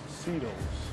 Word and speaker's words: Seatles: Seatles. Like the Beatles. The Seatles.